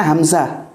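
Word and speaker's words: حمزة: Begini, tulisannya itu hamzatun, tulisannya ya, bacanya hamzah.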